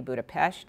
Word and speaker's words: Budapest: would be in English the S is pronounced s H so Budapest would be Budapest in Hungarian and it's